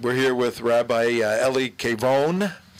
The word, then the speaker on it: Kavon: We're here with Rabbi Eli Kavon. Kavon, a couple of different ways to pronounce it. Kavon or Kavon. Yes. Kavon in English, Kavon in Hebrew.